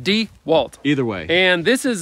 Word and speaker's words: DeWalt: job site table saw is it do you want or dewalt though d walt d e c capital w i don't know that's how you say it d walt either way and this